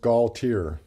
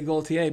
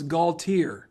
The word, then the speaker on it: Gaultiere: That's how a lot of people say it, but it's pronounced Gaultiere. Okay, see, I'm from South Louisiana, and there we would say Gaultiere, but so it's Gaultiere.